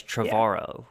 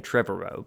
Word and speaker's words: Trevorrow: think no i think i read recently that it rhymes with tomorrow so it's trevoro i've been saying trevorrow but that's wrong is that sam neil